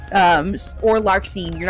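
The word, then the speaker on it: Larxene: You you look at like you don't really pronounce the X's as much as you think you do in most of the names like Marluchia that's you know you're not really pronouncing the X um or Larkine you're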